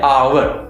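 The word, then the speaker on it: hour: आवर की starting H से हो रही है, कॉन्सोनेंट लेटर से, बट एज I told you कि इसकी जो प्रोनाउंसिएशन है वो अ से हो रही है, आवर।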